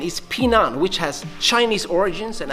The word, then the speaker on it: Pinan: By the way, in more modern Japanese styles, these kata are known as heian, but the original pronunciation is pinan, which has Chinese origins and actually means to stay safe.